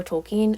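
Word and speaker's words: Tolkien: off of The Hobbit by JRR tolken or tolken as it's properly pronounced and so it's really actually a lot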